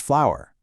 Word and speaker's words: FLWR: And yes, that's pronounced flower.